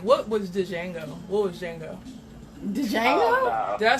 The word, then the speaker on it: Django: of like what was django what was django did i say that right i think the d is silent it's jango whatever movie that is